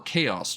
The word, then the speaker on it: Chaos: might find animals or chaos drives which you'll note are not pronounced Chow drives just saying I'm not